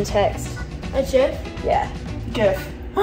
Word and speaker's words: GIF: GIF. They actually came out and said that it's like the peanut butter Jiffy. GIF.